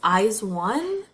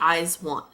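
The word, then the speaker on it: IZ*ONE: they produce 48 group I believe it's pronounced eyes one it's felt eyes II some like little symbol and then one but so it makes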